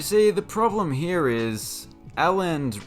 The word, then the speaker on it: Elland: the problem here is aland rhymes with balant that's a big no-no